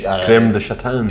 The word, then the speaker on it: Crème de Châtaigne: Crème de Châtaigne.